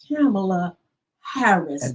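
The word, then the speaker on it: Kamala Harris: handshake but she told him her name and pronounced it the way it's supposed to I'm camela Harris to know let's go let let me get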